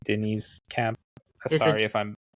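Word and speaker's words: Deniz Camp: I don't know if it's like Denise or Dennis, but it's D E N I Z. Yeah, some people say Dennis Camp. I just say Denise Camp.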